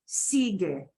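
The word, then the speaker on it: sigue: on or follow okay sige you can hear the get e at the end but you don't hear the sige Sig means the following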